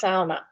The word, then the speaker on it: sauna: Yes, I'm I'm pronouncing trying to pronounce the way it's supposed to be it's sauna. Believe it or not that's how it's supposed to be pronounced.